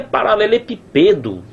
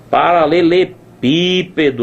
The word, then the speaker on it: paralelepípedo: não existe paralelepípedo rapaz onde é que tá essa sílaba tônica pelo amor de Deus tá aqui ó paralelepípedo ó pípedo ó destaca aqui tá na antepenúltima sílaba e não pode est